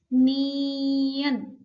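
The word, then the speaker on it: 니은: आपको नियन और नियन इसका उच्चारण हिंदी वर्णमाला के न की तरीके से होता है हिंदी में जो न होता है ना नमक न हर न के तरीके से नियन का उच्चारण होता है यहां पर मैंने आपको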